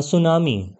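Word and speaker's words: tsunami: ही नुकसान पहुंचता है अ सुनामी ठीक है यहां टी साइलेंट है अ सुनामी इज अनदर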